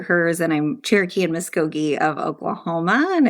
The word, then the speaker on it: Muscogee: So Indigenous higher ed prof, PhD, Cherokee, Muscogee. Did I pronounce that? Muscogee.